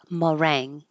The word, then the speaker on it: meringue: And this word meringue has a lot of letters, but it's just meringue.